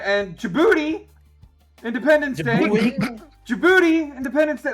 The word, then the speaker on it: Djibouti: All right, and Djibouti, Independence Day. Djibouti, Independence Day. That's how you pronounce it.